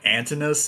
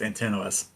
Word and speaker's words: Antinous: the guy that was, they call him Antinous in this one, but I think it's pronounced Antinous.